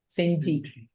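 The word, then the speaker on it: Gingee: Senji. It is spelled Ginge.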